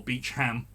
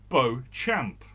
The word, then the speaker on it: Beauchamp: Apparently, it's called Kibworth Beecham. It's spelled Kibworth Beauchamp. Beauchamp. Beauchamp. But Beauchamp. But you put it together, I get a French connotation from it, and I automatically pronounce it Beauchamp.